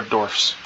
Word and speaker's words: dwarfs: Or dwarfs. Gotta make sure you're pronouncing that F properly. FS, not VES.